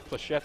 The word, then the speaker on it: flechette: Flechette is how you pronounce that grenade. It's French, I'm sure it is.